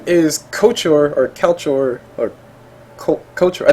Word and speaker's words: Couchor: a little bit later, but his name is Couchor, or Couchor, or Couchor, I think I said it right the first time, correct?